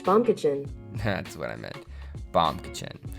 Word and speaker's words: Baumkuchen: hold on hey Google how do you pronounce baumkuchen that's pronounced bum kitchen that's what I meant